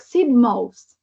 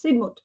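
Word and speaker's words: Sidmouth: me it was like Sid most I read it like Sidmos but actually it's Sigmut and they have a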